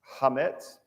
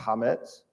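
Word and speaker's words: chametz: They call it hametz. It's spelled CH, but it's I believe it's pronounced hametz.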